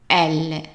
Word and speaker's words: elle: But since it's followed by double L, it's pronounced as an A. L, L. So let's practice one more time. Il, elle.